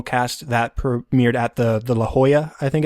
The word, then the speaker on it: La Jolla: of the original cast that premiered at the La Jolla, I think it's pronounced, theater.